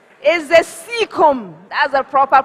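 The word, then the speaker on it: caecum: I'll give it to you spell is the seeum that's a proper pronunciation for that word not Kum normally seum that is how it's normally called all right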